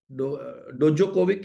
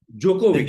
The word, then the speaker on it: Djokovic: डोजोकोविक है, डोजोकोविक। Please unmute yourself. Djokovic. जोकोविक, D is silent.